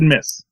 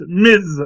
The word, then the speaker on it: Ms.: No, you said Miss. Oh, sorry. Yes. Don't be diminutive. It's pronounced Ms. Marvel with a Z.